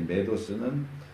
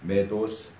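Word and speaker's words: μηδ᾽ ὡς: 이 메도스는 메대하고 호스를 같이 쓴 건데 이렇게 결합될 경우에 묶어서 발음을 읽기 때문에 메도스 이렇게 있습니다.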